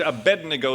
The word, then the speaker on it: Abednego: Yeah, in English, Abednego sounds like to bed we go.